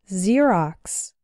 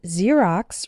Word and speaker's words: Xerox: When ex starts a word, then it's pronounced like z. There are very few of these words in English. But a couple of them are xenophobia, xylophone, and Xerox.